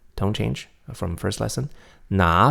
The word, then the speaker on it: 哪: So here, the pronunciation of 哪 remains third tone, right? Because 国 is a second tone, so it doesn't change tones.